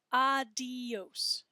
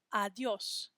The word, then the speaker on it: adiós: Notice how I say that with 2 syllables and not 3. It's not adios, it's adiós.